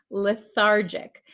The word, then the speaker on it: lethargic: you pronounce this word lethargic remember this is a JJ sound lethargic Okay the patient feels